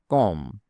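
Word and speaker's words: comb: Be silent. For example, কম। কম মানে চিরুনি। এখানে বি লেখা আছে কিন্তু বলা হয় না।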